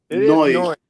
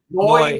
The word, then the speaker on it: Neu: How do you pronounce it? Neu. Neu.